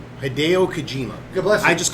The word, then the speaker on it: Hideo Kojima: Hideo Kojima. Hideo Kojima.